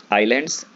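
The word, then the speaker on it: islands: A group of आइलैंड्स, आइलैंड्स S silent है शुरुआत वाला, आई के जस्ट बाद जो एस है वो साइलेंट है यहाँ पर।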